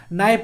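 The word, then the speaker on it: knife: case start होता है तो कभी भी के बाद अगर एन आता है तो उसके का जो प्रनंसीएशन साइलेंट हो जाता है यानी की के साइलेंट हम लोग कर देते हैं इसको ध्यान रखिएगा क्योंकि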